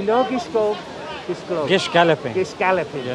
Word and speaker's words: Gish galloping: correctly then you say the correctly Gish Galloping Gish Galloping yes Gish Galloping see you learned something from